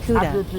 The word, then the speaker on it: Kuda: For example, a man's name might be Kuda, with an alveolar click at the beginning.